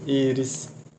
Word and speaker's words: Íris: Íris. Beleza. Íris, Amanda, Douglas. São palavras paroxítonas. Por quê? A sílaba cônica está na penúltima sílaba. Penúltima sílaba. Penúltima sílaba. Beleza.